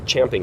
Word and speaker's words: champing: And even right after the festivals, people weren't chomping at the champing at the bit.